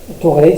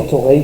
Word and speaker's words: Thoreil: Et donc, Thoreil, ça s'écrit T-H-O, R-E-I-L, je le précise parce que l'orthographe va être mouvante.